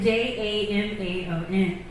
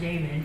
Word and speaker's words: Jamin: So I saw it Jamon. Jamon. And I was like, Yamon. And he was like, no, it's Jamin, calm down.